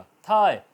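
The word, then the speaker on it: thigh: इस तरह साय, नज़ारा, मंजर, SI बोला जाएगा, GH साइलेंट रहेगा। थाय, ये रान, ठीक है, तो THI थाय बोला जाएगा, GH साइलेंट रहेगा।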